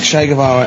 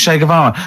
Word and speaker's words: Che Guevara: Che is like shake. and his surname is like guitar.